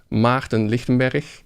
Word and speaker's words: Maarten Lichtenberg: So if you want to hear my name correctly, it's called Maarten Lichtenberg, which is, you have to make some sounds with your voice that especially English-speaking people are not used to.